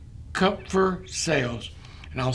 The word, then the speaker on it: Kupffer: Upon entering the liver, these same products can further activate special immune cells in the liver called Kupffer cells. And I'll spell that. Cup spelled with a K, Kupffer.